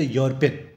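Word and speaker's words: European: ई तो साइलेंट है यहां पर अगर वर्ड यूज़ करें तो यूरोपियन ठीक है तो यो का वर्ड यूज़ हो रहा है यहां पे कंसोनेंट की साउंड आ रही है तो ए का इस्तेमाल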